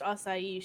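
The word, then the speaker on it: açaí: Yeah, it is pronounced acai.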